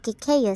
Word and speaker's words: cacao: Ito ay tinatawag na kakao sa Tagalog at kikeyo sa English. Kikeyo daw ang pronunciation niyan sa English, sabi nung teacher namin nung high school.